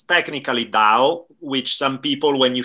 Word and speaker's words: Tao: is it danielle is it the town is pronouncing depending on where you ask you guys likely differ it's technically dao which some people when you say it will